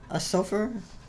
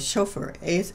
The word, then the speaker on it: shofar: It's called a Sulfur, S-O-F, Sulfur, S-O-F-A-R, I think is how it's spelled. And so I went on the internet and I researched all the information about it. And I found out that the Jewish horn, it is called shofar, S-H-O-F-A-R.